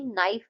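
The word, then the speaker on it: knife: ऐसे ही नाइफ में जो है के हम प्रोनाउंस नहीं करते हैं।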